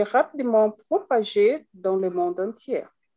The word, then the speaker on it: entier: propagé dans le monde entier. alors, dans le monde entier, on prononce toujours pas le R.